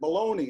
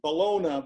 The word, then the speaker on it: bologna: I pronounce that baloney. I don't pronounce it Bologna, but I want this story to be true.